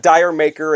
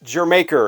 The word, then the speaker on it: Jamaica: It's not Dire Maker, it's not Dier Maker, it's Jamaica. It goes with an old